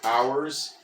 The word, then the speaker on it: hours: at the word hours, hours is got a silent H there, like a seat